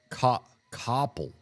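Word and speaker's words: Coppell: That's uh that one is said copple.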